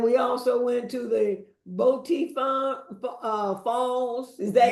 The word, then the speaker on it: Boti Falls: And we also went to the Boti Falls. Is that how Yes. you pronounce it?